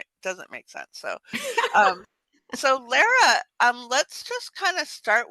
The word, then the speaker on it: Lara: So, um, I think it's Lara. But will you just correct me if I got that wrong? It's actually Lara. Okay, Lara.